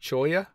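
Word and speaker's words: cholla: choya c h o l a but it's pronounced choya cuz the dou L they look so fluffy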